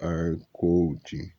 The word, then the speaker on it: Harcourt: Esta é Madame Harcourt. Ele pronunciou o nome em francês, o T final mudo.